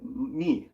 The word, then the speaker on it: May: my name is is me me me it might be pronounced may may my name is May and she got white